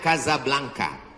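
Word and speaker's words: Casablanca: kuliah nama negaranya Maroko ibukotanya tulisannya Caca blancha cara bacanya Kadzab langka Kaza artinya rumah Blanca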